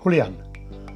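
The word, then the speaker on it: Julián: In Spain it's pronounced Julian.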